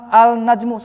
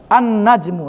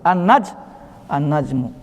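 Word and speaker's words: النجم: Karena dia nun itu huruf syamsiyah. Tetapi apa? Letakkan di sini, letakkan syiddah di atas huruf setelah ini, setelah al ini. Jadi dilewat ini kan? Tidak diucapkan. An-najmu, langsung aja.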